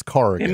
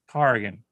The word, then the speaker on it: Corrigan: For the love of God, it's Corrigan. In the dream, they were correcting my pronunciation. How many times I got to tell you it's Corrigan, Mike? Corrigan.